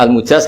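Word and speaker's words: المجاز: Saya tidak perlu nulis sanad lagi karena sanad itu untuk al-mujaz, bacanya al-mujaz karena dari fi'il madhi ajazah.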